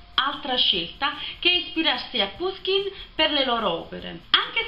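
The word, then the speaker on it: Pushkin: figlia del capitano di puskin che in realtà stando a quello che dice wikipedia si dovrebbe pronunciare puskin quindi molto napoli io come cognome russo ma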